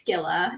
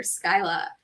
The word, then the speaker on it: Skyla: And we get on the phone, and she starts talking, and my character's name was Skilla in my head, but it was spelled like Skyla. And so she starts calling this character Skyla, and I was so anxious about it that I was like, who?